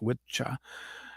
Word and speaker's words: wicca: word witchcraft came from the old Anglo-Saxon wiah which was actually pronounced witcha at the time um and um so